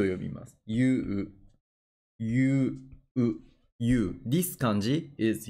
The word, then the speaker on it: 勇: kind people I これ勇者この感じはユと読みますユ You You this 感じ is you means Brave